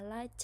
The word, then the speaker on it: liked: I mean I thought e d ended I d e d after k would be pronounced d but it should be pronounced t. So I should I should say I liked it instead of I liked it.